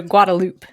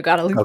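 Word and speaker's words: Guadalupe: that is the name that and it's also guadaloop we have a guadaloop street anyway guadaloop I am familiar with yes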